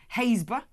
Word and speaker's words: Happisburgh: Happisburgh is pronounced Haysborough.